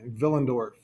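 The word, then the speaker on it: Willendorf: going to go to villendorf spelled with a W pronounced with a v villendorf here is the archaeological site at villendorf and this is the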